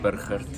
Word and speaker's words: Burgert: In Afrikaans it's Burgert, but in German it's Burgert. Oh, I see. But at least you roll the R.